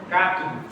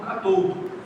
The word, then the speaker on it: cátodo: Qual pronúncia está correta? As duas.